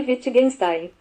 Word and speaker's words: Wittgenstein: Vou pronunciar para vocês aqui. Ludwig Wittgenstein. Wittgenstein.